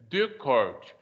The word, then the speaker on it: Descartes: Então, para você falar o nome dele é Descartes. Então, você tem que fazer o biquinho para fazer o som francês bonitinho, do jeito que tem que ser feito.